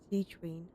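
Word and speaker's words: Sigewinne: But thank you for your concern, Sigewin. Sigewin, okay. Oh, That's how you say her name.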